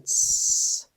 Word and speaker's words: prince: to sound this out C is at the end of the word so C says s e does not make its own sound we have one syllable let's sound it out p Prince let's do it again